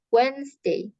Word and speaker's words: Wednesday: pasti Days Monday Tuesday ini tulisannya wetness Day tapi cara bacanya Wednesday Thursday W ya Friday